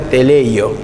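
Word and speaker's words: τελειόω: palabra griega que se llama o que se pronuncia teleleyo que significa llevar hacia la meta el objetivo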